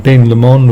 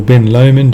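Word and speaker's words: Ben Lomond: There is Glendu and Ben Lemon or Ben Lman depending on how you say it.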